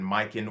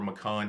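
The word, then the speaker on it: micans: which is a philodendron miken or macan however you want to pronounce it another one that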